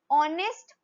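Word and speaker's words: honest: नेक्स्ट ऑनेस्ट fellow, again ऑनेस्ट, ओ की sound आ रही है, एच का तो कोई रोल ही नहीं है, साइलेंट है, तो हम क्या यूज करेंगे इसके पहले आर्टिकल एन, ठीक है, एन ऑनेस्ट फेलो।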